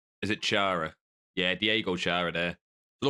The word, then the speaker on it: Chara: But moving on to, I think, is it Clara next? Got the name wrong. Is it Chara?